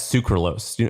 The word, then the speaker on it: sucralose: So I eat them, but a lot of people don't like it because it has sucralose. Or is that how you pronounce it?